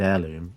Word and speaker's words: heirloom: for a card because both of the words in the name of this card start with a silent letter so if you're learning English and you look at the word honored heirloom you're not pronouncing the he that uh either time so that's a tricky